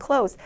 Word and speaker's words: clothes: 여기 나와 있는 clothes 단어는 th 모음 살짝 빼시고 그냥 clothes, 닫다 동사와 비슷하게 clothes라고 발음을 해주시면 되겠습니다.